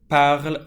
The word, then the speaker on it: parles: Tu parles français. As you can see, there's an ES, which matches with the tu. And it's a silent S. We do not pronounce the S.